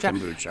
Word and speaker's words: kombucha: So the kombucha, is that how you say it? Yes, kombucha.